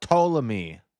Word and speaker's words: Ptolemy: Ptolemy. Cleopatra? Notice how the P is silent.